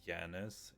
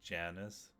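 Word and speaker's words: Janus: Like J is just pronounced Yi.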